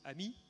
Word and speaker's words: AMI: Ami Advanced machine intelligence we actually pronounce it Ami because that means friend in French um and there's a